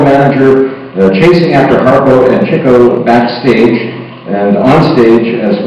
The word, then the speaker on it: Chico: You remember, we often pronounce Chico Marx, but he was correctly named Chico because he was into chicks. That was his thing.